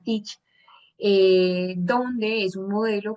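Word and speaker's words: TEACCH: Hay un método que es una es un método teach, pues escribe th, pero se pronuncia teach, eh, donde es un modelo que surge en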